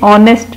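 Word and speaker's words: honest: एन ऑनेस्ट मैन, ऑनेस्ट में भी H silent है।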